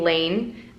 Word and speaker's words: Layne: and doesn't mean anything yes I pronounce my name Lane spelled la why indeed and it's not short for anything just lean next based